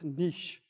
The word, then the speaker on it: niche: to go find your niche. And she goes, Carol, it's niche. I go, no, it niche, it rhymes with, and she goes, Carol, that's enough. I was going to say ditch, but I don't know